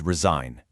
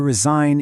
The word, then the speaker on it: resign: To resign is to quit basically. And again, listen, resign. The G is silent, but it's not useless.